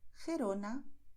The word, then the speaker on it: Gerona: Por eso, en muchas zonas donde se habla el español, los nativos dirán Jalisco, Ojeda, Jipijapa, Tajo, Tajuña, Gerona, Gijón. ¿Ves? Es garganta, pero no estamos forzando.